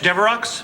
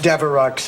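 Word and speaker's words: Devereaux: myself flowers for blanch deox oh no that's Deo it's only pronounced deu and Limer well blanch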